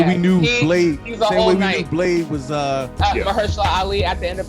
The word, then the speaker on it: Mahershala: knew Blade was Mahershala Ali at the end of Right. Eternals. Like that nigga's Ali. voice. Mahershala.